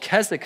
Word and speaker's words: Keswick: on that and it's called kzk theology it's spelled with this weird W in the middle it looks like Keswick and you've seen the